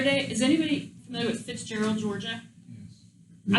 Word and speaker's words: Fitzgerald: And so the other day, is anybody familiar with Fitzgerald, Georgia? Yes. I was calling it Fitzgerald, but apparently that's not how you say it.